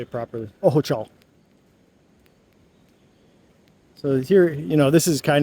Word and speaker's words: Ojochal: Ojochal.